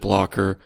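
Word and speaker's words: Blockr: a second ago but it's blocker is b c KR I think you pronounce it blocker but there's no e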